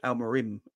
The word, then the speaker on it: Amorim: you say his name it's alarin it's not alarin he's the one that plays for Newcastle but he's got it's m at the end of his name say it's alar Rim ain't it yeah alar